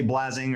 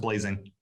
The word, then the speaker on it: Blasing: But it's spelled with an S. So a lot of people say Blasing or Blasing or, you know, butcher it, but it's always been pronounced Blazing.